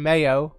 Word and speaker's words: Mayo: uh my ale pronunciation mayo much like the condiment and uh you're going